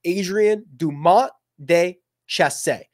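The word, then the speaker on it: Adrien Dumont de Chassart: his name is pronounced Adrien dum de chass I think he's French so it might be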